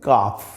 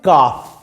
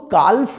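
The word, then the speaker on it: calf: silent উচ্চারণ কি হবে কাফ মনে থাকবে যদিও সি এ এল এফ একটা এল থাকবে কিন্তু কালফ হবে না উচ্চারণে এল থাকবে না উচ্চারণ হবে কাফ কাফ কাউ এর বেবি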